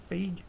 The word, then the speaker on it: Feige: but apparently because Kevin Feige, how do you pronounce his last name? Feige.